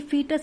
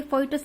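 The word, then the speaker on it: fetus: Stage को बोलते हैं फीटस, ठीक है। ये फीटस है, फोइटस नहीं है, ये फीटस होता है, इसको ऐसे प्रोनाउंस करेंगे हम फीटस, ठीक है।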